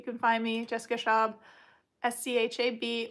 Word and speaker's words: Schab: And on Facebook, you can find me, Jessica Schaub, SCHAB, or actually pronounced Schab. You have to hawk a phlegm.